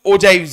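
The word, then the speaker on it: ogives: आप इसे ऑजिव्स भी कर सकते हो, बट उसका इंग्लिश प्रोनाउंसिएशन ओजाइव्स है।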